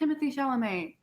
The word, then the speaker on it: Timothée Chalamet: Okay, I mean, I respect Timothée Chalamet, or I can't say his name right.